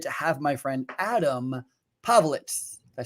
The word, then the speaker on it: Povlitz: I'm so super excited to have my friend Adam Povlitz. Did I say it right? Povlitz.